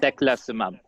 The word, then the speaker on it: Teclistamab: Teclistamab.